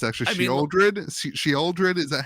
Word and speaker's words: Sheoldred: It's actually Sheoldred. Sheoldred, is that how you pronounce that, Josh?